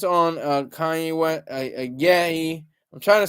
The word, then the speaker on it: Kanye: So KRS already had an album called Blueprint, and it's weird that it's on Kanye West.